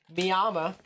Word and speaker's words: Miami: hal but then again oklahoma pronounces its version of miami miyama so weird stuff but